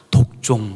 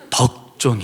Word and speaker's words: 덕종: 이름을 덕종 이라고 지었어요 어떤 분들은 발음을 잘 못해서 독종 뭐 이렇게 부를 때가 있긴 한데 에 독종이 아니고 덕종 에 이 덕정 이 무슨